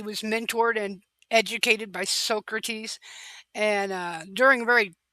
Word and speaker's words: Socrates: Um his teacher though, Socrates, Socrates or Socrates, which would be the proper way to say it, um obviously had a